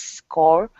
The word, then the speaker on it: scour: a horde of pseudo-Nazis scour the mountains in search of fugitives. Mm-hmm. So this one you pronounce as scour. Scour. Yeah, like hour. Okay. That would be hour, but scour.